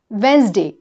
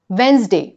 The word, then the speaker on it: Wednesday: वेडनेसडे में डा का प्रोनाउंसिएशन नहीं है। The right pronunciation is Wednesday. Wednesday.